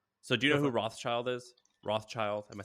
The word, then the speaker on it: Rothschild: So, do you know who Rothschild is?